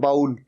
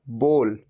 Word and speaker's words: bowl: भी प्रोनाउंस करते हैं, कहते हैं बाउल। बाउल नहीं, सही प्रोनाउंसिएशन है बोल। जैसे हम किसी को कहो बोल, क्या बोलता है, बोल। तो ये बोल, ये है इसकी सही प्रोनाउंसिएशन।